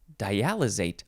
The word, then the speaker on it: dialysate: The next word in this episode is dialysate. Dialysate or dialysate, S or Z sound.